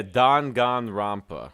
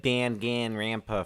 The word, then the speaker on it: Danganronpa: talking about dangan ronpa won the am i pronouncing that correctly yeah dangan ronpa dangan ronpa I'm gonna get there I said I said Dan gain rampa for the longest time so I I get